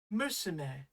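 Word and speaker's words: むすめ: Musume.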